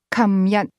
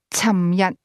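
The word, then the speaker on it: 琴日: The term yesterday, for example, is pronounced 琴日, in Hong Kong, beginning with a k sound. However, a speaker from Guangzhou, is more likely to say 尋日.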